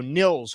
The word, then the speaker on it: Nils: It's Nils Hoglander, not Niles. So Nils Hoglander.